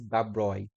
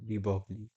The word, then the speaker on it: De Broglie: No, oh no, actually this is Dabroy. The right pronunciation of this is Dabroy, not Debogli. Okay, we made it according our local language, but this is actually the Dabroy.